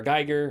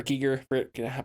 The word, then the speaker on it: Giger: of a lot of control vibes some h.r geiger or giger pronounced his name a lot of that vibe